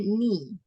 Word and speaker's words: knee: K-nya itu silent ya, bacanya knee.